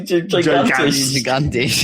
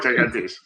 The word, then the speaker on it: gigantisch: Industry gigantisch. Gigantisch. Not quite gigantish, just giant.